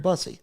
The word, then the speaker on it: Bussy: It is pronounced Bossy. Bussy. You said it 2 ways, and I was like, well, I've only heard Bussy. There we go.